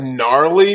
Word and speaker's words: gnarly: Can somebody explain what gnarly means? And could you spell it? I think it starts with a G. Gnarly starts with a G. I never knew that. It starts with a G like gnat.